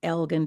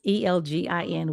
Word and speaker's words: Elgin: I am from a town named Elgin, Texas. Elgin.